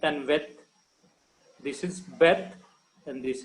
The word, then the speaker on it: Veth: When there is no dot in Beth, that is transliterated as V.